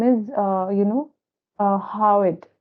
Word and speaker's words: hyoid: is uh you know how it it's usually pronounced like this h y o i d it's how it bone okay and this